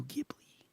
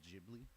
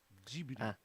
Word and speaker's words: Ghibli: In a world where Pokemon was animated by Studio Ghibli. No. First off, I don't have the energy. Secondly, I fucked up because it's actually pronounced Ghibli. Ghibli.